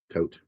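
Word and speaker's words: Toht: By the way his name is spelled doesn't mean death, but the way his name is said means death. Tote.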